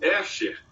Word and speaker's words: Escher: Então, no famoso caso Escher, se pronuncia ESCHER, caso Escher.